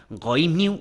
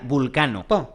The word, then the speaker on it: Vulcano: Ah, pero lo pronuncias mal. Escucha, Goimniu, Voilniu, Vulniu, Vulcano. Se pronuncia Vulcano. Pues yo toda la vida le recé a Goimniu. Nunca oí nada de Vulcano. No. Es lo mismo. Lo que pasa que la forma correcta de pronunciarlo es Vulcano.